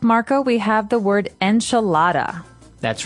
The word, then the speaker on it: enchilada: say the American pronunciation enchilada and you're going to hear Marco say a more appropriate a little bit with a more Hispanic accent to it that's right so the